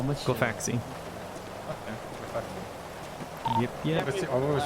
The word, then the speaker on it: Glafx: Glafx.